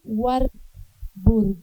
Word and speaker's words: Warburg: que se llama Abby War. Burg, se escribe war y después burg como hamburguesa. Así me lo aprendí yo porque siempre lo pronunciaba mal.